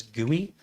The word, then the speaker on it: GUI: pretty user interface graphical user interface GUI we pronounce that as GUI they go oh you should buy our chairwear